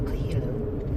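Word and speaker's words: Coelho: This weekend was book club meeting, and we read the book, The Alchemist by Paul Cohelo. That's how you pronounce his name.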